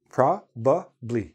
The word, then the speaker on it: probably: two of those consonants so for example the word probably probably proably I have three uh syllables in this word but when I'm speaking in natural speed I say probably are you coming to